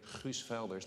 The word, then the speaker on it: Guus Velders: And I want to illustrate that with Guus Velders, that's how you say it, who was mentioned by Time in top 100 of leaders in this field of climate.